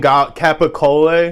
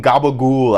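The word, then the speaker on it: capicola: the are you saying capaca Capac capaca cacola whatever the whatever you say say it how are you getting Gaba goul out of it that's the most ludicrous pronunciation I've ever heard it's also cool that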